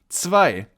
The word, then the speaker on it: zwei: And then we move on with the letter 2 or zwei in German. Zwei. As you can see, here we also have the I sound and the Z followed by a W is pronounced zw.